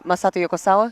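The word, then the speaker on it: Masato Yokosawa: I and I do want to kind of just pivot here about the pronounce it Masato. Uh Masati Yokosawa.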